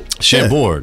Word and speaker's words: Chambord: Shambora. Oh, what? That's it, right? Shamrock. Let's play everybody's favorite game, invent a word. Yes. No, that's it. I did pronounce it right, eh? Chambord, yeah.